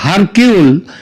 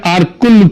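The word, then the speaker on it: Hercule: Agatha Christie এবং তার গোয়েন্দা আরকুল পোয়ারো, এটা যদিও ওই উচ্চারণে এটা হয় হারকিউল, কিন্তু অ্যাকচুয়ালি উচ্চারণটা হচ্ছে আরকুল পোয়ারো।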